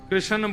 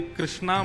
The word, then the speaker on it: कृष्ण: लाल की जय बंधुओ कई लोग इस नाम को अशुद्ध बोलते हैं कई लोग कृष्ण बोलते हैं कई लोग कृष्ण बोलते हैं कोई कृष्णा बोलता है भगवान का नाम शुद्ध उच्चारण करो नाम क्या है कृष्ण भगवान जय श्री कृष्ण